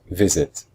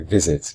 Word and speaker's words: visit: Visit. So we say I visit. We don't say visit.